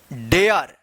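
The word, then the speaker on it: dare: डी ए आर ई डेयर क्या पढ़ेंगे?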